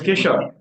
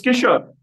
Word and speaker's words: Kishore: The V4, Kishore, I'm sorry for pronouncing your name badly. You could teach me how to pronounce it. It's Kishore. Yeah. It is called? It's Kishore. You're right in your pronunciation. Kishore.